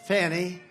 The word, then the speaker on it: Fani: You had Fani, F-A-N-I, which is usually pronounced Fanny.